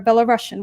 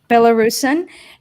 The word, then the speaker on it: Belarusian: here uh frank via he is a belarusian would that be the correct pronunciation or a bella russian which one oh by the way let me and meet you bellarson it's better belarusian and vitas yorkonis who